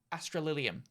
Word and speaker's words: Australium: uh thank you to Australian Australian for australium that's how you pronounce that um for the donation